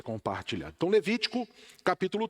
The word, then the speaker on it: Levítico: lá no livro de Levítico, no capítulo 3. E se em algum momento aqui, na locução do estudo, na fala, eu pronunciar Levíticos, me perdoe, tá? É Levítico, tá?